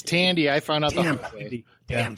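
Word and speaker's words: Thandie: shock value and I think thy did I pronounce it I was no it's Tandy I found out the damn sorry Tandy Tandy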